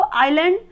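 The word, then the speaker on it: island: पढ़ा जाएगा काम, और यहाँ पे एस साइलेंट है तो इसको आइलैंड, और यहाँ पर देखिए पी और एल साइलेंट है तो इसको शाम पढ़ा जाता है।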